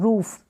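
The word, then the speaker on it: rough: ये है रफ, क्या है, रफ, जी एच को फ पढ़ेंगे, आर को र, और ओ यू को अ के रूप में ही पढ़ेंगे, और जी एच को क्या पढ़ेंगे, रफ, ठीक है, रफ, रफ।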